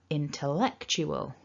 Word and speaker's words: intellectual: from the previous slides it's a weak schwa so we don't want to say tell it's so don't over